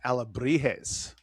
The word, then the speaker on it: Alebrijes: It's Alebrijes.